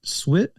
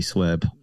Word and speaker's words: SWebb: Swit? And so it's so frustrating. But yes, if people know how to say it, I'd prefer be SWebb.